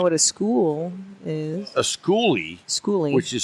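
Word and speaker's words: Skoolie: um I know what a school is a schoolie schoolie which is spelled ES k o o l i e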